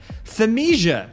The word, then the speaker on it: Thymesia: Thymesia, which I think is how it's pronounced, is an action RPG set in a fantasy medieval world ridden by a plague.